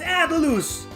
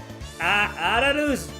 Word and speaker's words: Atlus: It's Atlus! Atlus! That's the correct pronunciation. It's a Japanese company, so Atlus. It's Atlus.